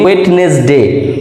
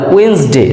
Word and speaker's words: Wednesday: এরপর এটাকে বুধ হিসেবে চিনি, ওয়েডনেসডে মানে ওয়েন্সডে, যার উচ্চারণ ওয়েন্সডে, WEDNESDAY, ওয়েন্সডে, ওয়েন্সডে means বুধবার।